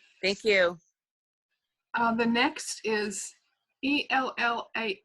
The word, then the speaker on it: ELLAH: The next is ELLAH. How do I pronounce that?